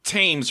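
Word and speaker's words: Thames: one I do know oh tames right tames tames that's correct I think they pronounced it TS out there okay well I'm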